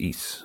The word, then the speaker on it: Isa: as a deed oh it's not ice it's eise okay so what would